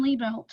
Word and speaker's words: Libelt: i'd like to welcome my special guest tom lee belt welcome to the show tom thanks for having me and you pronounce my name right too well that's why